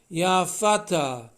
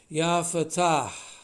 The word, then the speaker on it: Fattah: and in other words you say the h it's not ya fattah it's not feta cheese it's ya fatah so going into that